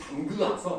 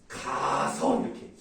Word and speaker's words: 담가서: 그럼 우리가 이걸 발음할 때 우리 엄마가 김치를 담그아서 이렇게 안 하죠. 담그아서가 아니라 어떻게 발음해요? 담가서 이렇게 쓰고 이렇게 발음을 해야 돼요. 담그아서란 말은 없어요.